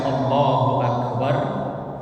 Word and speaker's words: Allahu Akbar: kita membaca Allahu akbar tidak boleh memanjangkan huruf abjad atau huruf alif dalam lafaz Allahnya karena kalau dipanjangkan itu mengandung huruf itu artinya bertanya Maka kalau bacanya kokoh Allahu Akbar itu artinya bukan Allah maha besar tetapi apakah Allah Maha Besar kalau Hamzah atau alifnya dipanjang Kemudian yang kedua juga